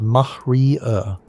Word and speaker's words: maria: They're real geological features, vast ancient lava seas called Maria, pronounced mahrier.